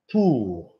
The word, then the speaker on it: pour: Pour. So OU, guys, if there's an O and a U, yeah, OB, the pronunciation, David, is OU. So it's not por.